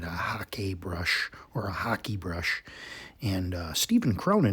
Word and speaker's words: hake: kind of just uh we refer to it as as the heck brush but uh we have heard that the pronunciation is hockey brush which to me is